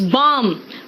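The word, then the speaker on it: balm: अब आओ next L, देखो बेटा कहां कहां साइलेंट है, देखो एल साइलेंट कहां कहां है, इट्स बम, पाम, चौक।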